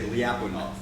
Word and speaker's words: Lyapunov: in in the us when we talk about liapunov we we say liapunov and so I decided in the end it's easier for me just to keep the the American pronunciation and you'll just have